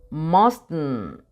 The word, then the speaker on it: mustn't: Para el must, mustn't, mustn't. Ay, me estoy comiendo una T.